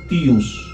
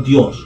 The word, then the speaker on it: tius: Y en quechua no existe la consonante D. En vez de la D, se reemplaza por la T. Y la pronunciación correcta para los mitayos era tius. Y no Dios.